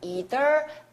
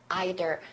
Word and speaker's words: either: 여기서처럼 either side of 발음은 두 가지 either either 여러분들 보시면 either side